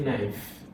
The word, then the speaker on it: knife: But this one I hear knife. I hear knife. Even I'm not even hear my e very well. My knife. Yes. So, but my K is silent there.